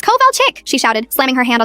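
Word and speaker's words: Kovalchik: It's Coal Chick?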